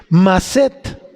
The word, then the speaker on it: maset: Y la raíz de esta palabra, don, es maset, que quiere decir maset, como si fueras a poner maceta, pero sin la A y acento en la E.